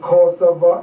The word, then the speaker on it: Kosovo: But Kosovo, is how you pronounce it? Yes, Yeah, everybody, oh, Kosovo, people